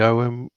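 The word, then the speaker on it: Ogham: For those of you who are not aware of the OM, and that is how you say it, the G is silent because um, Ema told me so, and I don't argue with Ema.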